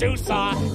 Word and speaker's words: SUSE: But it's SuSE, yes, SuSE. Now say it with me, SuSE. It starts like Sue, that girl you knew, who